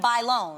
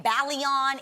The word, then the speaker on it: Bailon: Adrienne Bailon. Yeah. No one can pronounce my last name. Oh, yeah, you were So saying. I get Adrienne Balion, Adrienne Bailon, Adrienne, I don't know what.